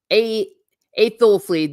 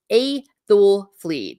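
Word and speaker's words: Æthelflæd: I'm not sure about Hera, but Athleth is pronounced Aethelfleed. The Old English ash sounds different depending on whether it's accented or not.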